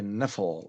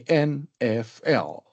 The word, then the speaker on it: NFL: So the NFL, we cannot use it as a word. Rather, we produce it or pronounce it as a string of letter names. NFL. We do not say Neffel or Naffel or Niffel. No, it is not possible, but we say NFL.